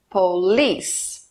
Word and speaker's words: police: last Story a palavra Polis tem duas sílabas e a mais forte é a última Police repita as frases em